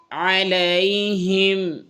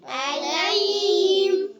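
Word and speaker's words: عليهم: আমতা আমতা আন আমতা আলাইহিম আলাইহিম আইনের উচ্চারণ খেয়াল কর আলাইহিম আলাইহিম আলাইহিম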